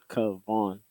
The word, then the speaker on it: Kavon: And then nobody was able to pronounce Kavon, which is my name. And I'm like, it's K Von.